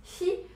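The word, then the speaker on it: 火: De manière abrégée, c'est-à-dire si on veut le retrouver en tant que composant, eh bien, le feu, qui se prononce hi, peut aussi s'écrire avec ces 4 petites gouttes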